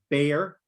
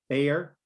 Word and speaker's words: bear: same vowel so ah is for also so bear bear beer for cerveza beer right so dirt okay